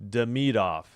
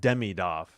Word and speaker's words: Demidov: Demidov. Yeah. It's not Demidov. The emphasis is on Demidov.